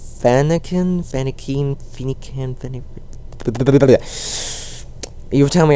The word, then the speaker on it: Fennekin: It is actually pronounced in a way that I cannot pronounce it very well. It's Fennekin. You tell me how to pronounce it. It's Fennekin.